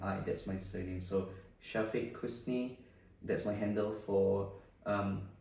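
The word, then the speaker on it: Syafiq Kusni: description here obviously mine is just my name Shafi Kus uh it's a bit of hard one but I just spell it out for the audience okay all right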